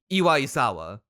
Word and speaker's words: Iwaisawa: So that's why I'm looking forward to Kenji Iwasawa. How do you pronounce this? Iwaisawa.